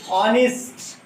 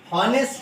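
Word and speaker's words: honest: यहाँ पे भी देखिए ऑनेस्ट, हॉनेस्ट नहीं है, हॉनेस्ट नहीं, ऑनेस्ट, ऑनेस्ट, एच है बट आवाज आ रही है ओ की, ऑनेस्ट, तो क्या आएगा?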